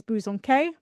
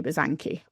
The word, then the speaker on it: Bosanquet: It's a very strange way of pronouncing it, but the French way is Bosanquet, but it's like ancestors back from the French line, so we say Bosanquet.